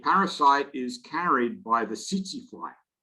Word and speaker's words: tsetse: The parasite is carried by the tsetse fly, which is spelled T-S-E-T-S-E, but it's pronounced tsetse.